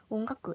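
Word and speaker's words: 音楽: 음악도 이런 식으로 온가쿠 이런 식으로 발음을 하면은 더 일본어스러운 발음이 된다.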